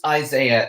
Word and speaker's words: Isaiah: It's Isaiah, if you don't know how to pronounce it.